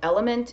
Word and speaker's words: LMNT: really love the product element it's lmnt but it's pronounced element there's a link below